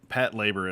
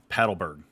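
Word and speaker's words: Patlabor: know or pronounce it I know Brandon pronounce uh Pat labor as Pat labor but I've always called it like paddle birg no is that not how you say it it's no okay we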